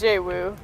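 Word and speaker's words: Xu Wu: Zuwu. It's pronounced J-Woo, but... That's not a J, that's an X. no, it's J.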